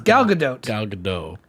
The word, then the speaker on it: Gal Gadot: so yeah gal gadot so it is gal gadot you're just missing it well i'm missing that